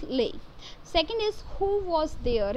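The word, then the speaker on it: Leigh: and it's right phrase lei hunt it's pronunciation is lay second is who was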